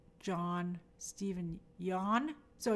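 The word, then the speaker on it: Yeun: That vowel is the same name sound in John, in Job, and Long. John, Stephen Yon.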